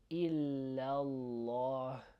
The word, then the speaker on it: إلا الله: So this is probably like a little bit tricky because you're saying la and then you're saying law. So you're saying illallah, illallah. So try your best with